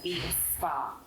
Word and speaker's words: vea.s_spa: And so you can find us on Instagram at vea.s_spa, pronounced as V Spa, and book an appointment with us and have the best massage of your life.